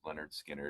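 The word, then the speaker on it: Lynyrd Skynyrd: My mom bought like a bunch, or a few of them, a handful, and I know it was Leonard Skinner, the pronounced Leonard Skinner.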